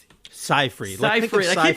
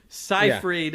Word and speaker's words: Seyfried: Keep saying her name wrong. Seyfried. I keep thinking Siegfried and Roy. Seyfried.